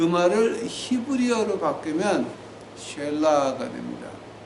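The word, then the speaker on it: Selah: 자, 그 말을 히브리어로 바꾸면 쉘라가 됩니다. 자, 그 말을 영어로 발음하면 실라가 됩니다.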